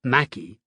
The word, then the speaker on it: Mackay: John McCay, pronounced Mackey, and his partner Jack